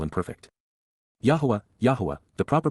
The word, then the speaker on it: Yahowah: over whom he scoffs C imp perfect Yahweh yahwah the proper pronunciation of the name of eloah God as